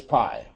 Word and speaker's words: pi: forever Pi that is pi it's pronounced it's actually spelled just pi but it's pronounced Pi just like apple pie or whatever it doesn't